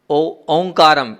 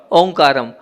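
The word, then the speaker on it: ओंकारं: हैं तो वहां क्या है वहां पर है ओं काम आप लोग क्या करते हैं उच्चारण क्या करते हैं ओम काम व ओमकार नम नहीं है वहां पर ओ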